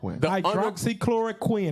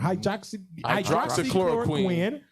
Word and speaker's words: hydroxychloroquine: Hydroxychloroquine. That's a 3-syllable. Hydroxychloroquine.